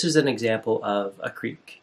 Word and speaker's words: Kriek: So at its most basic, this is an example of a Kriek, K-R-I-E-K, but pronounced, like a creek, like a little stream.